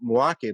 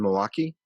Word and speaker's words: Milwaukee: show he did in milwaukee milwaukee sorry sorry i said it more than two syllables um and he came